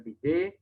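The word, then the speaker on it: bidet: yurina ya dari PD tulisannya bided Tapi bacanya BJ itu tepat untuk buang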